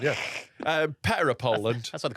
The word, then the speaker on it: PETA: Like, Is that how you pronounce it? I always thought it was- PETA. I always thought it was Peter. Yeah, it sort of is, but I don't know, because I think it sort of differentiates it from the name Peter by saying PETA in it.